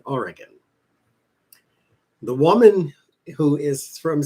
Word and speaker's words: Oregon: So I said, I am from a place that's pronounced Oregon, but I pronounce it Oregon.